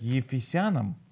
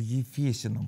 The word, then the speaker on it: Ефесянам: Завет Послание к ефесянам некоторые ударение ставит ефесянам а а но как бы правильно мне подсказали ефесянам по-русски Аминь я не знаю как